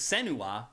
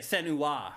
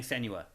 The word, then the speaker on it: Senua: a focus on, and I've been pronouncing her name wrong all along, it's Senua. Yeah. I haven't been saying it that way. What have you been saying? Senua. But they say it Senua.